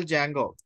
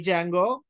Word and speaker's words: Django: is silent okay not Django D is silent actually so it is not